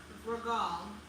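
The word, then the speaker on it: רגל: In Hebrew, foot is pronounced ragal. Ragal.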